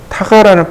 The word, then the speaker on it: TGA: 여기에 누가 들어가냐면 TGA 타가라는 파일입니다. 이거 타가라고 읽어요. 타가 파일이라고 합니다.